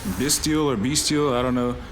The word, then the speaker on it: Bystial: I'm more inclined to say Bystial, but I think a lot of people say Bystial, so I think that's probably how it's pronounced, like the word abyss.